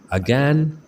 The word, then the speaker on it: again: इस वर्ड को हम दो तरह से प्रोनाउंस कर सकते हैं, अगैन या अगेन। अगैन, अगेन।